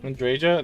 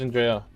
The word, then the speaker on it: Andreja: Andreja? That's how you say her name? I thought it was Andrea.